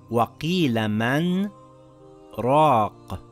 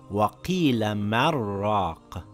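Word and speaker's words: وَقِيلَ مَنْ رَاقٍ: I took a slight pause after the word man, and without taking another breath, then I continued reading. It is not pronounced وَقِيلَ مَرَّاقَ with the يَرْمَلُون rule, as explained in previous lessons.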